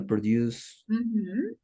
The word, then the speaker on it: produce: Local produce. Yes, local produce. Local produce. So the pronunciation of produce, the verb, and produce is different.